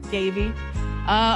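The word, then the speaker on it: Daveigh: Davy.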